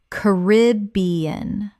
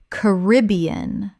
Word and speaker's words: Caribbean: Caribbean or Caribbean. Both are widely used and accepted. The British pronunciation stresses B.